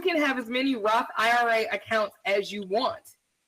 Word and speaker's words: IRA: IRA. Oh, say it again. No, I'm dyslexic. One more time. IRA.